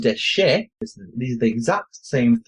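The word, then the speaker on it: דשא: Pronounced dashar is a verb, but pronounced deshe.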